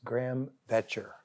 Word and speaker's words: Graham Boettcher: Welcome to our issues Birmingham today's guest is Graham veter I said it right you said it right it's not spelled like Graham berer but it's pronounced like gram